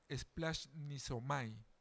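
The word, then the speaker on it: σπλαγχνίζομαι: Hay un vocablo griego que se pronuncia splash niomai. Este dolor es el motor de su acción de sanar y enseñar. Esta palabrita splash nisomai.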